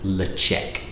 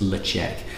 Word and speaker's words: Ledaig: So, Tobermory itself was originally called Led-chek. That's how you pronounce it, not Ledaig, it's Led-chek.